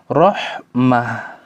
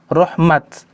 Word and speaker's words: رحمت: Ketika ditulis dengan tak maftuha atau tak marbuto, maka berhentinya dengan huruf ha, rahmah. Namun di beberapa ayat ditulis dengan bentuk tak maftuha, rahmat. Maka ketika berhenti dibaca dengan rahmat, bukan rahmah.